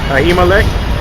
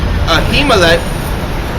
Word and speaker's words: Ahimelech: And David said unto how you pronounce that? Ahimelech. Ahimelech, and is there not here under thine hand spirit of sword Slakia?